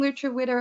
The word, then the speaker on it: lutruwita: Tasmania or Lucha weather so I will be saying Lucha Witter a lot that is the palawakani name for Tasmania the recognized name for